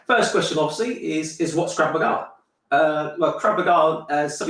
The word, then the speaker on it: Krav Maga: Obviously, it's Hebrew, so it's actually pronounced Krav Maga. Okay, in the UK, sometimes in the US they call it Krav Maga.